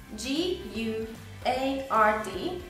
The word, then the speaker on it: guard: nem ejtesz ki szavakban ilyen például a guard oké g u a r d guard tehát ott az u de nem ejted build nem úgy mondod